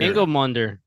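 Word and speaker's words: Ingilmundr: And again, I don't remember how we pronounced it in the beginning. Ingolmunder. Ingolmunder.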